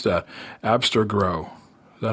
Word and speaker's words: Abstergo: Abstergo. Is that how you pronounce that? I don't know. Abstergo? Oh, is that what they're... is that how you yes, Abstergo.